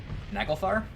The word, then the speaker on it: Naglfar: Sorry, the Naglfar. It's a Freya variant. I didn't realize that. How do you pronounce that? That's... Naglfar?